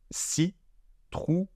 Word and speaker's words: citrouille: Donc je répète, citrouille, citrouille. On voit écrit un I et pourtant on n'entend pas de I.